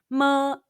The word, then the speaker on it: ma: of the chinese syllable when you see the english letter m in ping in the pronunciation is mu it's like the m in the english word mai say mu now mimic